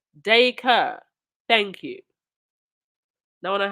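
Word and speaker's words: Dacre: I say Paul's surname is pronounced Dayker.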